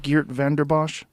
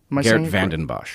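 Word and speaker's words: Geert Vanden Bossche: Geert Vanderbosch? Geert Vanden Bosch.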